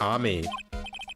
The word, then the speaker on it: Ami: Everyone knows that the lady that founded the crane channeling technique was Mystic Ami. Also, it's not pronounced Amy, shut up.